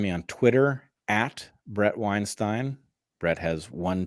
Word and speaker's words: Weinstein: on Twitter at Brett Weinstein Brett has one t and yes Robert you pronounced it correctly it is pronounced like the bagel brothers except with a w ow um and where